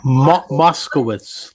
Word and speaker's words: Moscowitz: Moscowitz, like Moscow. Moscowitz. Yep. Moscowitz. Or Witz with a silent. Is B, right? Well, no, it's actually a silent W. It's Witz, Moscowitz.